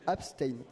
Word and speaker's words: Abstain: Donc maintenant, le S est devant le T. Donc on dit Abstain.